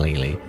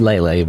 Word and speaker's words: Lele: It reminds me of Ashley from the Coffin of Andy and Lily. Again, I say Lily. It's Lele, but like, I don't know.